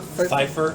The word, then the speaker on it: Pfeiffer: Pfeiffer? Pfeiffer, like Michelle Pfeiffer.